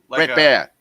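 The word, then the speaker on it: Bret Baier: Brett Baer? Yeah. Brett Baer. Like a Russian bear.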